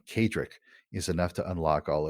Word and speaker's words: Kaedrich: and everything absolutely just look for my name cadrick it's spelled k-a-e-d-r-i-c-h and you'll unlock a whole world